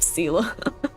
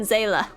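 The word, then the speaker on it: Seele: No, I don't approve or accept Seela. It's always been Zayla.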